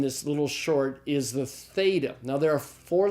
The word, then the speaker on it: theta: is the first Ilham this is the theta it's the th sound like in the English word thing alright alright